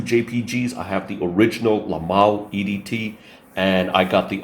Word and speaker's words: La Malle: I know the French pronounce it La Malle. I'll just say Les Mails, because I don't know French.